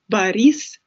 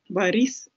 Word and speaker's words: Борис: We don't pronounce this O like O because it's unstressed, like more like A. Борис Джонсон. Борис Джонсон.